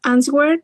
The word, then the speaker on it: answer: Yay, my dear Alexa, remember the pronunciation. It is answer. Answers in plural. Yes, W isn't pronounced.